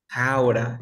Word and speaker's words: how to: ¿Cómo se pronunciaría este jauta? ¿Cómo sonaría este jauta? How to? Jaura. Excelente. Sería jaura. Great.